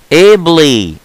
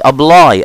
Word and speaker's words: ably: ably ably مش ابلاي، ابلاي التانية اي دبل بي والبي تقيلة، الواي بمعنى يطبق جاي منها كلمة ابلكيشن صح ولا ايه؟